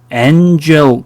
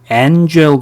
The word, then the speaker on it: angel: angel 그렇게 발음합니까? angel 그래요? 애 발음이 아닙니다.